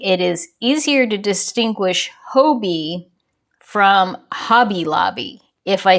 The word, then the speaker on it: Hobbii: I have a tendency to pronounce it Hobie. The president of the company kind of said it Hobie.